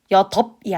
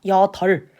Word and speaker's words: 여덟: 리을 비읍 예시 여덜로 발음을 하기로 했죠. 여이 아니라 여덟.